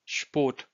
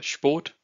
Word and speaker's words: Sport: Here, what I'm trying to say is only the S part of SP is pronounced as the sh of show. So Sport. Okay, you still have to pronounce the P, but because this P behind P you have S, so this S is pronounced as sh and not s.